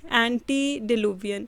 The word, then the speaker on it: antediluvian: Sidhi pronunciation antediluvian।